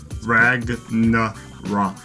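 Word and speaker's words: Ragnarök: Ragnarok is the pronunciation.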